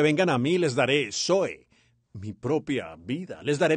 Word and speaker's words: zoe: of God or eternal life is pronounced zoe, zoe, zoe life. Y las dos palabras griegas y la vida de Dios o vida eterna se pronuncia zoe, Z-O-E, zoe, vida.